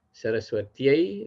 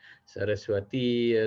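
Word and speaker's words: Sarasvatyai: seperti dewa ayamaah, melainkan Saraswatiai namah dewi. Dewiai namah Saraswati, Saraswatiai, namah, Laksmi, Laksmiai, namah. Jadi bukan Laksmi ya namah, Saraswati ya, namah, Dewi ya namah, bukan seperti itu.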